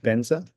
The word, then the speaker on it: vajra: So instead of vatra they say benza.